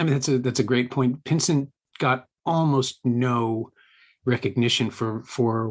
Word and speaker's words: Pinsent: Pinsent, yeah, Gordon Pinsent.